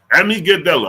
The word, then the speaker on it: amygdala: How to pronounce amygdala. Amygdala.